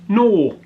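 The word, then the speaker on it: gnaw: I've got a block of chocolate popcorn and peanut flavor called no gn a w gor silent g no there's a block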